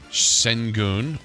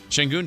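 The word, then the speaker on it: Şengün: I said Shenun, which rhymes with moon. Uh, full moon. Yeah, Shenun 33. Keegan Murray 24. Chris said Shenun 27. Lavine 25. The correct answer was Shangun 28.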